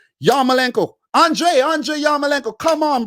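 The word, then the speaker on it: Yarmolenko: yo yo malenko he's he actually said his name and said it properly and pronounced it in proper ukraine and everything ukrainian yamalenko andrei andre yamalanka come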